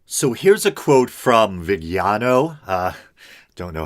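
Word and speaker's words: Viganò: Archbishop Carlo Maria, and I've heard people pronounce it Vigano, but I've also heard it pronounced Villano. So, either or.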